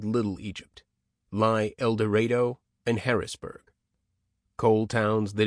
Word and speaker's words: El Dorado: A stranger in El Dorado, pronounced El Dorado, feels uneasy, as in any small town where everybody knows everybody, and an out-of-state license plate provokes stares.